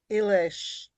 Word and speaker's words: Illis: Elish. Because it's like Budapest. An S in Hungarian is an sh.